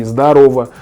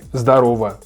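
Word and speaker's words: здорова: Yeah, so it can be zdarova, zdorova, but when you pronounce it, the sound is A. So I would use A, zdarova. The stress is in the middle.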